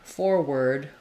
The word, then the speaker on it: forward: So it's like the word word, which sometimes people are confused by because of the letters OR. You might want to check out my video for what happens to R after W. So we have word, ward, worm, warm, etc. I have a lot of details on that. It's a little bit tricky. I like rewriting forward, or this word word, with the word were plus a D.